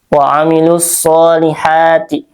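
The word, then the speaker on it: وعملوا الصالحات: wailus shihati aso di sini alif lam syamsiyah ya alif lam bertemu dengan huruf syamsiyah yaitu shad ya jadi dibacanya dilangsungkan atau diidgamkan waamilus shihati nah sh mad t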